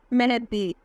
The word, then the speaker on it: Maahid: दाइब नाम की मानी है मेहदी। नाम है आर्यन।